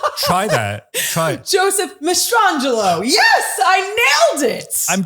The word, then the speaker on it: Mastrangelo: Joseph Mastrangelo.